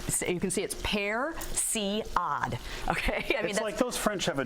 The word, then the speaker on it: persillade: cooking life I think so basically it's called Percy odd carry that with me Garcia heresy odd i put a graphic up that shows how to pronounce it so it's you can see it spare see odd okay those French have a different word for